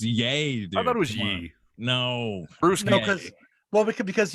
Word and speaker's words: Ye: partnership obviously no Sam's not ye dude it's yay dude no because well because you say his